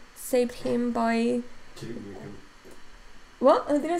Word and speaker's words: Duke Nukem: Michael made a video essay on how Duke Nuke saved him by... Duke Nukem.